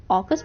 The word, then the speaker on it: AUKUS: AUKUS, जिसे ऑकस pronounce किया जाता है, ये इंपॉर्टेंट हो जाता है, जिसमें ऑस्ट्रेलिया, यूके और यूएसए शामिल है।